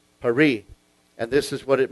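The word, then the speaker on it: פרי: So this is pronounced Peri. P-E-R-E-E. Peri.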